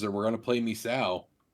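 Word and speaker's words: Misao: maker horror games and we're going to play misaw how the do you spell that m-i-s-a-o surprise you didn't do like red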